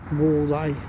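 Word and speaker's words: buğday: Будай. У нас будай, у них будай. Г пишется, но будай. Так же как далар. Г пишется, но почти не звучит.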